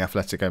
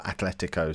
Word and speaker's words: Atlético: or four season job turning Athletico Madrid or Atletico sorry saying it wrong again don't tell me off